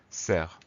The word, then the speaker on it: cerf: est un ace et il y à un f muet qu'on n'entend pas la fin puisque on prononce serre il s'agit d'un nom